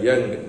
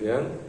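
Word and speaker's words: Jung: Archetypal criticism was founded by Young, J-U-N-G-N. Okay, pronunciation is Young.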